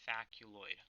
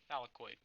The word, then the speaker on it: thylakoid: One individual chip is called a thaculoid. Okay, or am I pronouncing that right? Yeah, thylakoid. Whatever.